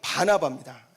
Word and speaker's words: 바나바: 사람 바라봐라라고 이야기하고 있습니다 여러분 발음을 잘 하셔야 돼요 바라바는 예수님이 십자가에서 달리기 전에 예수님 대신에 풀려난 사람이 바라봤고요 여기는 바나바입니다 한 글자 차이에요 굉장히 다릅니다이 바나바라는 사람이 먼저 예루살렘